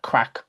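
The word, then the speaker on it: craic: good times and music so it's not a crack as in the crack that you smoke it's a crack it's not spelled the same way and it means fun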